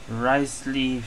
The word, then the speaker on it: Wriothesley: this time I'm playing rice Le that's how you pronounce it rice Le story Quest um wait